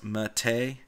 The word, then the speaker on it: MATE: want to ask somebody why I'm pronouncing ma te as Matei go ask him because that's the way he says it so I gave this